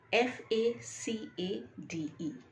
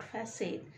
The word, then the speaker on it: facade: the scattered remains of rubbish word number two f a c a d e f a c e d e is very commonly mispronounced as facade now it's not facade it is facade facade facade facade means the